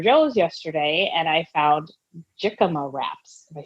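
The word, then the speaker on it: jícama: And now it's either, lettuce wrap or the jicama. Jicama. Yeah, jicama. Even though it's a J, that you say it like an H, right? Jicama, H.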